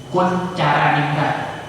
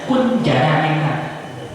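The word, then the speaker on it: Koentjaraningrat: C Kuncaraningrat. Itu kalau mahasiswa saya bacanya Kunjaraningrat. Saya maklum, kenapa? Dia nggak ngerti bahwa dulu ada ejaan lama kun caranya TJ itu dibaca C.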